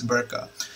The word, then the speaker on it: BRCA: are tumor suppressor genes, BRCA, right? I always remember that because I you know, when you pronounce the word BRCA, it kind of reminds you of the burqa that Arabic and Islamic countries have.